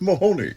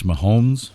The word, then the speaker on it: Mahomes: the kansas city chiefs ransacking chiefs quarterback patrick mahoney can we just um pronounce it correctly it's mahomes well we never stayed still long enough for